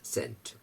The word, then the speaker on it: scent: कई लोग स्केंट बोल देते हैं, भाई सीख रहे हैं. Okay, I एम not blaming them, but आई am trying to tell you इट्स नॉट, द सी इज साइलेंट there, सेंट.